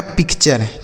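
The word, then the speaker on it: picture: पी आई सी को pick और टी यू आर ई को चर। तो यह लिखा गया पिक्चर।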